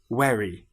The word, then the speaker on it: very: Some people will say very instead of very.